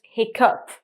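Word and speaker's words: hiccough: It's spelled with GH, and it's still pronounced hiccup.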